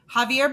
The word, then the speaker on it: Xavier: Javier Becerra, but it's spelled Xavier.